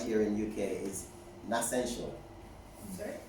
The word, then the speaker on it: Nassential: here in UK, is Nascential. Sorry? Nascential. N-A-S-S-E-N-T-I-A-L. So it's like Nature's Essential.